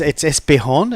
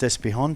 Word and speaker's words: Espejon: It's Espejon. It's pronounced Espejon, Toby, and We had him before.